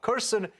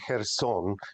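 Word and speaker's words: Kherson: is looking at this Russian Retreat from uh Kirsten very very cautiously why is that uh it's actually her song is the the way it's pronounced look um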